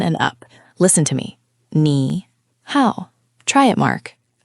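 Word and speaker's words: 你好: Both of these words are actually the third tone. The third tone is the bouncy one, right? Your voice goes down and then back up.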